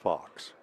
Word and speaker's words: Lydia Fuchs: Lydia Fuchs, by the way, is pronounced Fox.